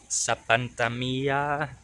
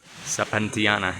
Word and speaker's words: Sapantiana: way up to aqueduct Sapantamia. I may have to correct myself when I get up there. Sapantiana is how it should be pronounced.